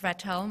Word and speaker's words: Trevato: congrats hello everyone so my surname is pronounced trevato I know it's not easy I'm from Switzerland I'm